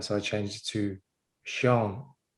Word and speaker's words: Sean: I changed it to Sean. I see the Irish way, Sean, S-E-A-N.